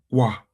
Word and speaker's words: quoi: Now, quoi? Quoi? Yeah. Quoi? See how to write, how to pronounce it here.